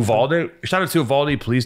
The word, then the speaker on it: Uvalde: How do you pronounce that county in Texas? Oh, Uvalde or something? Uvalde.